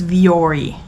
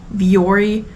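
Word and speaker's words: Vuori: recently heard a commercial I think it's viori viori anyway I think that's how it's pronounced um leggings they were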